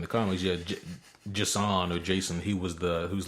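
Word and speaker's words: J'son: who the hell knows basically Jason but with a weird pronunciation Yeah. There's no A in it. Yeah. Um J accent and then J apostrophe S O N.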